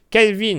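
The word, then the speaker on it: Kelvin: pas à le prononcer Calvin bon mais comme Calvin voilà et ELM m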